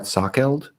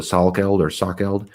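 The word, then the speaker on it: Salkeld: with uh i don't i think i pronounced his name brett sockeld um or it's spelled s-a-l so sal killed he's a really uh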